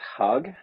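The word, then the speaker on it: Hugg: So I've been named this project Hug, like Hug. HU double G, but the second G, as you know, was silent.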